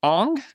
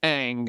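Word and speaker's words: Aang: The pronunciation is Ang. If you've seen this movie, it's Ang.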